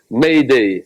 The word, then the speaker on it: Mayday: Message de détresse, tiré du verbe français aider, prononcé phonétiquement par les anglophones, Mayday, M-A-Y, D-A-Y.